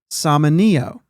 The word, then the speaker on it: Samaniego: the other pitcher, and there's beliefs out there of how to pronounce his last name. I'm not sure. Samaniego, I've heard. I think that's the consensus pick from all the things that I've looked up. Samaniego. I've also heard the name in general pronounced as Samanio.